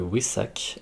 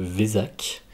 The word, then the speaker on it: Wesak: lieu bientôt cet événement s'appelle le oui sac alors en france on appelle aussi le vézac peu importe pour la prononciation appelez le comme vous préférez donc c'est un événement